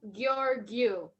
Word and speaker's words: Georgiou: Yeah, if you must say it, you say it like your you with the hard g. So your you, Georgiou.